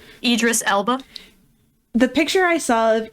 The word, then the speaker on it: Idris Elba: those are yucky the picture of is it Iris Iris irdis how do you say his name Idris Elba the picture I saw of Idris Elba and